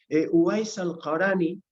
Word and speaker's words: Uwais al-Qarani: Uwais al-Qarani, en la pronunciación turca un poquito más conocida, Veysel Qarani,